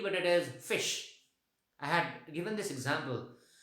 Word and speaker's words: ghoti: word gote is not ghoti, but it is fish. I had given this example because in the word rough, gh is f. In the word women, o is e.